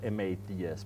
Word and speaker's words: Mads: So it's spelled M-A-D-S, but it's pronounced Mads.